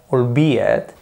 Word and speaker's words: albeit: Se pronuncia albeit, siempre hay que poner una coma, y después, de normal, no se dice en frase, sujeto y verbo.